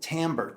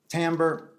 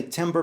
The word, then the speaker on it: timbre: the second one is what's commonly called Tambor TI mb ar e Tambor some people say timbre but I think it's pronounced Tambor become quote me on